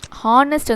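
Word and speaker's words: honest: Like he is an, அதாவது இந்த ஹானஸ்ட் வந்து பண்ணாக்கா ஹா அப்படிங்கிறது வந்து it pronounce like a vowel.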